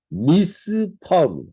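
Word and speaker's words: מִשְׂפָּח: 근데 포이는 단어가 뭐냐면 미스파 이건 도살 압제하는 뜻인데 성경이 재밌게도 발음이 거의 유사합니다 미시 미스파 즉 우리가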